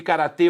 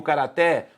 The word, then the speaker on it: karatê: Você pode lutar, além de karatê ou karaté, você pode lutar judô ou judo.